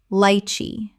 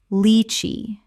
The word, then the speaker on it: lychee: Common mispronunciation. Lychee. Correct pronunciation. Leechee. The first syllable sounds like the word lee not like the word lie. Example.